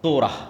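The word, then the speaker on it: תורה: মুসা আলাই সালাতু সালামের কওমকে যখন তাওরাত দেওয়া হল তোরা বলে ইহুদিরা উচ্চারণ করে তোরা।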